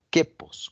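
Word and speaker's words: κῆπος: escuela llamada el queos así como se escucha queos con k queos significa del griego traducido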